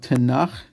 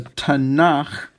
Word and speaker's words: Tanakh: And then finally, the K, a K when it's at the end of a word is really more of like a KH sound. That's why the H is there.